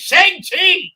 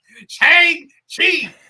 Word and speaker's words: Shang-Chi: Just as Joe McPhee rants about speculation, I rant about how they pronounce Shang-Chi. It's Shang-Chi! Shang-Chi!